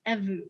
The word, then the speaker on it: evu: And the pronunciation's evu, correct? Yes. Perfect.